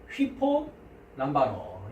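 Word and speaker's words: ὑπολαμβάνω: 그래서 이거 위가 아니라 휘로 발음합니다. 휘. 그래서 휘포 람바노.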